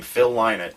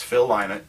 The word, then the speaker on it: Phil Lynott: His answer was, "Why not Lynott?" There you go. That's good. He said it all the time. I said, "All right." So it's Phil Lynott, and in the show